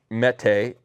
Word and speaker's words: Mete: in the pistol so the canik meat mete i believe is how it's pronounced is the canik sft